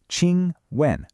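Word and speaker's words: 请问: It's pronounced 请问.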